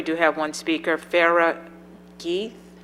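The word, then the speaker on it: Ghieth: Chair, we do have one speaker, Farah Geith. Guy, I'm sorry. It's spelled G-H-I-E-T-H, so not as.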